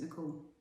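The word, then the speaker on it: Necole: You still just pronounce it Nicole.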